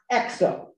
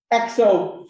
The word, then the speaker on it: ECSO: effective control self-ownership e which is abbreviated e c s o pronounced exo um and uh ecs